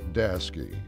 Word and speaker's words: Daseke: at daski we've built North America's Premier open deck specialy